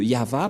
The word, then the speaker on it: Yahvah: de de yava et la prononciation de y h va selon les ébreux c'est yava et personne ne peut